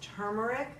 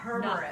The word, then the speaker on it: turmeric: It's turmeric. Because it's T-U-R. Turmeric. But we all say Turmeric.